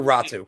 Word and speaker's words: Ratu: are is it anthony is it rottie or ratu it's ratu yeah it is uh but i've seen people pronounce it ratty as well but i think it's right yeah but it it it's it's ratu right keep this in mind